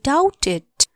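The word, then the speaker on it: doubt: शंका छ भन आई डाउटेड डी ओ यू बी टी डाउट बी को उच्चारण हुन साइलेंट हो यो लेटर डी ओ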